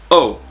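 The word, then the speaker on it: を: and that's okay which this bottom one whoa is typically pronounced oh but that's just because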